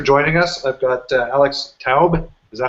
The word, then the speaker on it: Taub: I've got Alex Taub. Is that how you pronounce it?